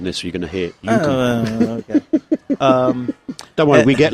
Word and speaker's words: Youku: Pronunciation in Chinese is not very good, ladies and gentlemen. Youku. Youku. Not Youku.